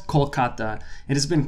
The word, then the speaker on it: Kolkata: decided to rename it based on the Bangla pronunciation of the word the previous few centuries the city was called Calcutta and it continues to